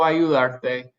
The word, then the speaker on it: ayudarte: The reason we didn't add an accent here is because the stress in ayudar is on the AR. By adding a syllable that ends in an E, that automatically puts the stress on the second to last syllable. We're good. We don't need a written accent.